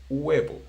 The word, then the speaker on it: huevo: The right pronunciation for this word must be huevo. Huevo. That, but a lot of people, because they speak so fast, because or whatever, they say huevo instead of huevo.